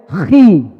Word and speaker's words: chi: Kalau X dalam bahasa Yunani dibaca apa? Dibacanya chi. Bacanya apa? Chi. Bacanya chi.